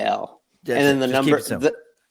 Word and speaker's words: Gil: Gil, and that's for those of you who don't know, it's and then Gil, just No, GIL.